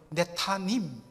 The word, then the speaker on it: 느다님: 그런데 느다님 사람들, 원래 정확한 히브리 발음으로는 네타님, 느다님 사람들, 이들은 누구일까?